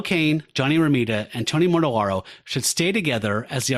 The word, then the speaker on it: Mortellaro: Johnny Romita, and Tony I never say his name right. Tony Mortellaro, L-A-R. Okay, let me try that again. One thing, however, I think Gil Kane, Johnny Romita, and Tony Mortellaro should stay together as the artistic team.